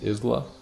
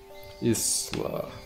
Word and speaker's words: Isla: be a fun night the S is silent in Isla Isla got it is